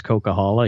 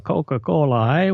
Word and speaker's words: Coquihalla: from Quebec and he couldn't pronounce Coquihalla he used to call it a I'm going over to a Coca Cola way oh yeah oh yeah